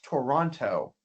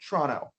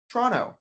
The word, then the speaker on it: Toronto: Most people from around the world would read this as Toronto. But we don't say it like that. In fact, we would say Toronto. Toronto. I'm going out tonight in Toronto. We do this by taking away the first O in the word.